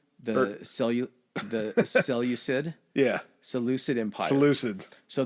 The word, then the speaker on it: Seleucid: guy named Antiochus of the, I try to pronounce Seculoids? the Seleucid.